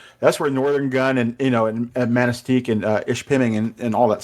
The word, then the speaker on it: Manistique: Is that how you pronounce it? Manistique.